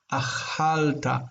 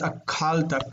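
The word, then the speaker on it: אָכַלְתָּ: This is achalta, achalta. Not akalta. This kind of kills the word. Akalta kind of kills. K. We're going to say ch.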